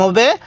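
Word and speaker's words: ح: শক্তভাবে উচ্চারণ করব এরপরে হা মুখ দিয়ে হালকা বাতাস বের করব হা এরপরে খ খ এই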